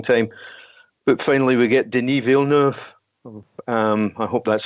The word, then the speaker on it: Denis Villeneuve: took a long time but finally we get denis villeneuve I hope that's how you pronounce it that's how you that's how you